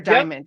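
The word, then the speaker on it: Daymond: Matt has worked with, is it Damon or how do I say, is it Damon or Diamond? Yep. I'm not sure how he pronounced. Okay, it is Damon John of the Shark Tank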